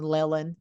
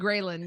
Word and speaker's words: ghrelin: your hormones and all the greptin and the ghrenin. No, I said it wrong, Cristy. The leptin and ghrelin, yeah.